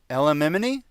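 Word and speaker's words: Elimimian: Elamimini is pronounced just the way it's spelled.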